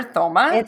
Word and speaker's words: Thoma: Super excited to be here today with my friend Thoma. Is that how you say your last name? Thoma. The H is silent.